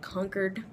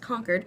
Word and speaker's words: Concord: in this town called conquered it's spelled Concord but pronounced conquered Massachusetts and I'll talk